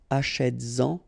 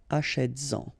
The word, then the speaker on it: achètes-en: And then achètes-en, achètes-en, all right?